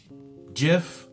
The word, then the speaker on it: GIF: in English so technically if the Creator decided that it's pronounced jiff then it should be pronounced jiff but more importantly if